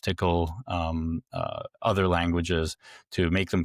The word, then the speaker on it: TCL: They did all the cross-platform stuff for TCL, which is pronounced tickle, other languages to make them cross-platform.